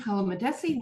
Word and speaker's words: Palamidessi: mispronounced your last name. Palamidessi, please.